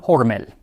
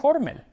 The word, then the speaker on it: Hormel: La historia del jamón enlatado inicia con Hormel. O debería decir Hormel, porque aunque la compañía lo pronuncia Hormel ahora, al menos en sus comerciales, supongo que originalmente era Hormel.